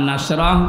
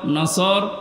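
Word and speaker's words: نسر: এই সূরাটা অনেকে পড়ে নুনদর নাসর মানে সাহায্য আর নুন সিন নাসর মানে ইগল পাখি এজন্য তেলাওয়াত যখন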